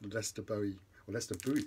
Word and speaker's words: Lester Bowie: Staying with the ECM label, then went for Jack DeJohnette's New Directions, which was his band with Lester Bowie, as it's pronounced in America, John Abercrombie and Eddie Gomez.